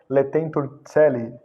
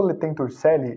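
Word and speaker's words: Laetentur Caeli: Outra referência que eu dou é a bula Letentur Celi. Tem gente que fala Celi, mas o correto é Celi, tá? Porque essa é a pronúncia tradicional em latim. A bula Letentur Celi, de 1439, é uma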